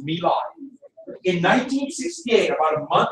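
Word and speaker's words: My Lai: in 1968 in 1968 about no no it's Mei it's Mei it look like M but it's pronounced Mei in 1968 about a month after T about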